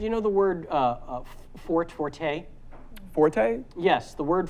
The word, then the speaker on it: Forte: the E and say Forte that is strictly a musical term meaning loud if you're talking about a person's strong suit yeah it's actually pronounced Fort and I have known